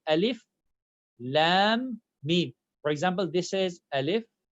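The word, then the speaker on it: الم: For example, here, I cannot read this very first word as alam. I need to say alif, lam, mim.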